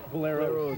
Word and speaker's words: Boleros: So I understand now your name is actually pronounced Los Bolero, is that it? Boleros. Boleros. Okay, now what's that name mean anyway?